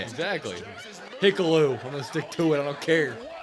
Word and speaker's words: Hikuleo: Hikuleo.